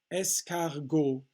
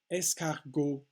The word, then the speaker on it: escargot: to get into that escargot escargot are snails three syllables oh okay the mute